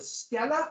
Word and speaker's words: stela: I guess it's pronounced stela. I want to say steel because I'm an English speaker, but I'm trying not to.